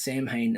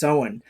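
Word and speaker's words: Samhain: I kept reading it in my brain as Sam Hayne as well but it's actually pronounced so on because because it's the old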